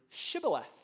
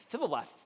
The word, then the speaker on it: shibboleth: But if you were an Ephraimite, you just couldn't pronounce it. It would come out like Thiboleth.